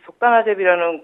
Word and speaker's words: 속단아재비: 이 속다나제비라는 국명은 우리나라 식물 중에 속단이라는 식물과 가장 유사하여서 속다나제비로 붙여지게 되었습니다.